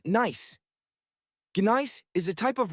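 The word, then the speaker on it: gneiss: The ground is largely covered in loose gravel interspersed with ancient rocks composed of granite and something called ginise, pronounced nice.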